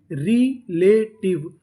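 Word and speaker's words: relative: आखिरी में ई है, हमें उसका उच्चारण नहीं करना। तो मीनिंग क्या बनी? रिलेटिव, रिलेटिव, रिलेटिव।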